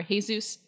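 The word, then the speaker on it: Jesús: god it's not it's his name is short for hey-zeus dr.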